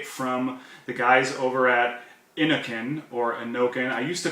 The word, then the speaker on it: Innokin: all the way from the guys over at Inokin, or Inokin. I used to call it Inokin, but I think after ECC this weekend I stand corrected, and I heard George actually say Inokin.